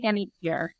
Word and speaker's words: Panettiere: Hayden Panettiere, right? Am I Yeah. saying it wrong? No, that's right. Hayden Panettiere.